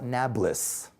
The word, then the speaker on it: Nablus: neo Paulus new city Arabs can't pronounce peas today so they call it Nablus interesting that Palestinians can't